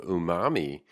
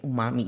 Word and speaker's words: umami: a learning opportunity for people it's called the Umami or Umami strategy yes how do you say